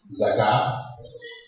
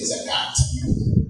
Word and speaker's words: zakah: Zakah, or zakat, properly in Arabic it's pronounced zakah. Non-Arabs will often say zakat, with the T at the end.